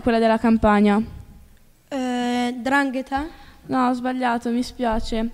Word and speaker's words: 'Ndrangheta: Vabbè, dai, l'unica che manca, 'Ndrangheta. Brava, corretta, l'hai anche pronunciata in modo corretto.